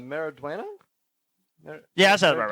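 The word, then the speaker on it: Maridueña: Mariduena?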